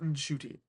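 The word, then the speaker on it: Ncuti: Like what is Shy have what what is Shooty? It's pronounced Shooty.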